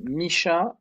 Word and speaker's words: Micha: again just for listeners i don't want to mispronounce it hi mike so my name is misha so that's with my first name and last